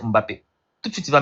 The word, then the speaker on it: Mbappé: si quand je prends Mbappé puis Mbappé prononci va prononcer quand tu viens devant Mbappé je vais dire monsieur Mbappé va dire non c'est pas Mbappé c'est Mbappé tout de suite il